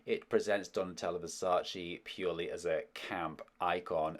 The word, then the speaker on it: Versace: Versace? It's pronounced Versace.